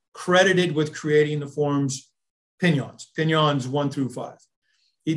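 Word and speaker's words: Pinan: out about that is even the word pinyon would pronounce with the spanish extracts over the n is is not japanese right so like if it was going to be pronounced in japanese it would be pinon like that's how it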